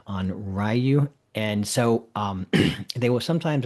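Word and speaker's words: onryō: The what we call a Yuri is a type of spirit, the Henri. Uh, I'm mispronouncing it again, Onryu.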